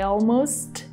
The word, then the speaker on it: almost: With the word almost, she didn't say, and I almost gave up. She said, and I almost gave up. Actually, I feel like she completely dropped the T here.